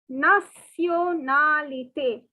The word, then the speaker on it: nationalité: Okay, the word nationality is pronounced as nationalité. See, the spelling is almost the same, only the differences of the Y and E. But the pronunciation is very different. It is nationalité.